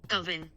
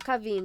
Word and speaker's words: Kavin: Kavin. Kavin. Kavin. Kavin, not Kaveen, it's Kavin. Kavin. Kavin, not Kevin.